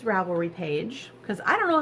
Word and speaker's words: Ravelry: it up right now let's go back to Ravel green it's my home page I'm a tablet is Ravelry why did I say it like that why